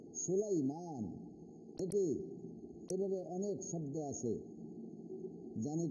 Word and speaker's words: سليمان: সালেমান কই, সালেমান শব্দটা গলত, সুলাইমান।